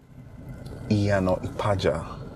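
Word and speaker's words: Iyana-Ipaja: Okay, how would I pronounce Yanopaja? Iyano Ipaja, okay?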